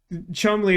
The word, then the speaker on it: Cholmondeley: Chumley is the pronunciation of Cholmondeley, which was, I think,